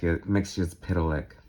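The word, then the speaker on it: Mxyzptlk: Mr. Mixus Pitalik. That's how you pronounce it. That's official, by the way. Don't you dare challenge me on that, because I'm right.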